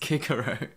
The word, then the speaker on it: Cicero: speak nine different languages you should surely know that it's actually pronounced kikaru and once again ptolemaic